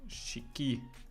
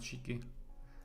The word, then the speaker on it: Shiki: shiky shiky Micky um how is the proper pronunciation for this Shiki it's Japanese SK SK SK ski okay SK not shiky I IE I prefer Shiki to be honest shiky okay so let's see